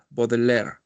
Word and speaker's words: Baudelaire: splin de París de de baudel de bodeler se escribe baudelaire Ajá a ver qué